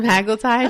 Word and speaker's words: semaglutide: at all I said semaglutide why don't you pronounce it the proper semaglutide okay is that the primary shared ingredient in